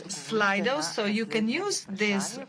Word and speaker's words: Slido: How should I pronounce this correctly? My children wouldn't help me at home. I wasn't sure whether it's Slido or Slido, but okay, so you told me that it's Slido, so you can use